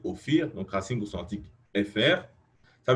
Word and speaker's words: Ophir: Donc, vous voyez, la prononciation, c'est Ophir, donc racine consonantique FR.